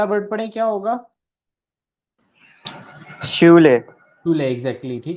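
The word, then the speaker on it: Schule: शूले, exactly, ठीक है, स्कूल को कहते हैं शूले।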